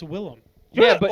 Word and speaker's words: Willem: Yeah, but his name is pronounced Willem.